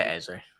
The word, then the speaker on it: Eze: Of course, he is obviously a huge fan of Eze. Is that how you pronounce his name? Eze? Yeah, Eze.